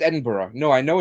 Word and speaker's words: Edinburgh: Well, I know it's Edinburgh.